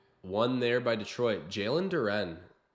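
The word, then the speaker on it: Duren: there by Detroit Jalen Duran or Duran I think is the proper way to say it right on cue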